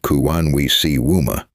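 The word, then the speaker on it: Kuwanwisiwma: Kawanwisima, pronounced Kuwanwisiwuma, has emphasized consultation, repatriation, and the authority of communities to protect ancestral knowledge.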